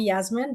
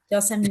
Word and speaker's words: Yasmine: Usually I'm asking people here in Canada to call me Yasmine, but Yasmine is my correct name.